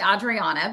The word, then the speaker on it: Adriana: Hi Adrien. How are you doing today? I'm good. Thank you. It's actually Audriana but that's okay.